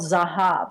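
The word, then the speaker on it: Zahav: in the historic district is a restaurant called zahab I'll spell that for you it's Z ah a V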